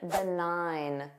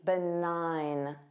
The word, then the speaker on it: benign: Number 13, benign. Notice that silent g benign. Nine. Benign.